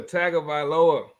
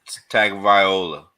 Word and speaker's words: Tagovailoa: Tua Tagovailoa. Tua. Give me Tua. Pronounce the whole name, Nick. Pronounce the whole name. Tagovailoa.